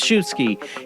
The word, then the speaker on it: Szubski: out of you because we had problems it's pronounced I have a butcher to probably tonight but shoesky he is a search and rescue EMT he